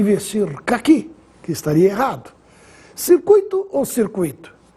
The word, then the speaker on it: circuito: caqui que estaria errado circuito ou circuito circuito é assim que se fala essa palavra circuito nada de dizer circuito e se escreve sem